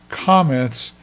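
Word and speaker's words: קמץ: So if I say comets that ca tells me that I'm going to pick up that law sound like in father.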